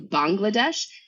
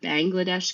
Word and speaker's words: Bangladesh: country is pronounced typically Bangladesh instead of Bangladesh because it's not Bengali it's Bangla and so in February